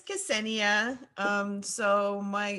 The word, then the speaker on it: Ksenia: My name is Ksenia.